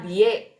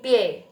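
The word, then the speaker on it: bie: ce nah ya terus b i e bukan dibacanya by tapi pye b-nya jadi P Te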